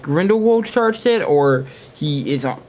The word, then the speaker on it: Grindelwald: they do it against Grindelwald that fire wouldn't that have saved the strong Lestrange well so what was the uproot Jude Law's pronunciation wall he always said window vald like his German I don't think he's